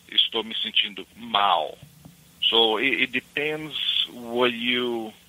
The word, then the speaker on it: mal: So now, mal is almost like mall, you know. M-A-L-L. Okay. You pronounce the A a little bit more instead of O, you know, like a mal. Mal. Yeah, like mouth. There you go. Like mouth or mouse? Mouth, as my mouth.